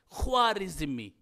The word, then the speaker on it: خوارزمی: سے انہوں نے یعنی خا کے ضمہ اور را کے کسرہ کے ساتھ خوارزمی، تو اس طریقے سے انہوں